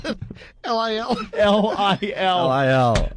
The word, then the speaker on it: Lil: L-I-L? L-I-L. L-I-L. Not little. It's Lil. Oh, they're coming in like crazy.